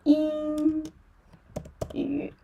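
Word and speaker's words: 英语: So, Ying Ying So, for this final final, yeah, we need to give a first tone for it.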